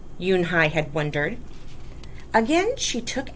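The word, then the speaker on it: Unhei: girl asked scrunching up her face ooh ooh uni some kids chanted no no unh yoon hai corrected it's spelled u n h e i it's pronounced yoon hai oh it's yoon hey the boy said like hey you what about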